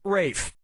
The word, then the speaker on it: Ralph: has the ralph or rafe has to ralph player two clocks a ticket player two player one yep ray fein's first name is spelled like ralph but pronounced rafe and his brother joseph